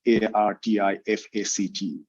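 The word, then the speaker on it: RTFKT: that's the word artifact a-r-t-i-f-a-c-t um and they removed the vowels from the word and they made it r t f k t so it's still pronounced artifact so this company has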